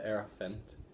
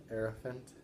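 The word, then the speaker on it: Hierophant: So we have the Heirophant, like an elephant, Heirophant, I think the H is silent.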